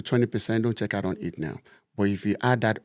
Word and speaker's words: Etnowe: If you have never experienced it now, it's very possible.